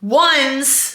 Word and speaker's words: Onze: Ones, which really is pronounced like onze in French, is 11 in French, but it's spelled O-N-Z-E. We're pronouncing it ones because in pickleball, when you're